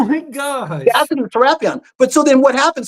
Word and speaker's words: Serapion: Serapion? Yeah, Serapion.